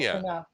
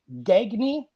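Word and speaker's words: Gagné: But Gagne is actually Gagne. There's a famous wrestler, Vern Gagne. But oh yeah. But I just got sick. Actually, the way teachers used to pronounce it was Gagne, as in gag me.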